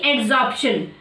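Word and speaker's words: adsorption: तो बेटा दोनों में प्रोनाउंसिएशन में बहुत थोड़ा सा, बहुत लिटिल डिफरेंस है। नॉर्मली आपको सुनने में दोनों टर्म एक ही लगेंगे, बट थोड़ा सा डिफरेंस है इनकी प्रोनाउंसिएशन में, यहाँ बी है और यहाँ पे डी है, बाकी पूरा सेम है, ठीक है।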